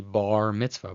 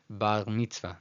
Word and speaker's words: bar mitzvah: In English pronunciation, it'd be bar mitzvah, bar. In Spanish, it sounds like bar mitzvah, bar mitzvah. But in Israeli, which is more of a French R, bar mitzvah, bar mitzvah.